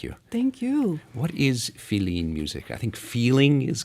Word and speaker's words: filin: and it's in Cuba they spell it F-I-L-I-N, which is the way it sounds in Spanish, or how it's spelled in Spanish.